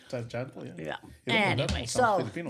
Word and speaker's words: Tjahjanto: Tjahjanto. Tjahjanto, yeah.